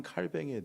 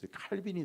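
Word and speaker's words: Calvin: 칼빈주의가 나온 거예요 그러니까 칼뱅의 이름은 어 프랑스식 불어 발음이고 어 또 그 이름을 다시 미국식으로 바꾸면 뭐예요 칼빈주의가 되는 칼빈이 되는 거죠 그래서 어 칼빈에 의해서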